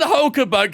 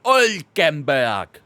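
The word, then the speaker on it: Hülkenberg: The Nico Hulkenberg. I think that's a bit too much pronunciation on the H there, maybe.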